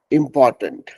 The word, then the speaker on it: important: अब देखिए उसका एक वर्ड है इम्पोर्टेंट, IMPORTANT, इम्पोर्टेंट मतलब महत्वपूर्ण, जरूरी, इम्पोर्टेंट। तो उसका भी उच्चारण बहुत जरूरी है।